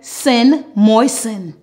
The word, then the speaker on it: moisten: Normally, when we have the ending S-T-E-N, we don't pronounce the T. It is sin. For example, f-a-s-sen, fasten. G-i-sen, glisten. L-i-sen, listen. M-oi-sen, moisten.